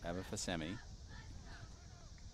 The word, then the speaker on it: Babafasemi: I think just like it's spelled. Fasemi. Right. Babafasemi.